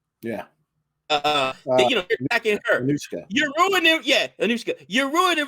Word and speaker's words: Anushka: I mispronounced the name. Is Ashoka, right? Yeah. You're attacking her. Anushka.